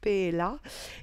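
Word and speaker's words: Pahaliah: et nous avons ici la carte pas alia qui se prononce paix est là et cette carte qui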